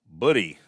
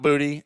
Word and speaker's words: Booty: Buddy is how you say that. Not Booty, not Buddy, but Buddy.